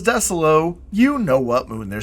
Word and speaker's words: Desolo: Desolo. Or DEE-soh-low. Or dee-SO-low. Or however you want to say it.